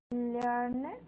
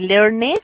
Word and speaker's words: learned: Acuérdate que learn termina en una N, ¿cierto? Entonces, como termina en una N, ese ED lo vamos a pronunciar como una D. Entonces no voy a decir learned, sino learned.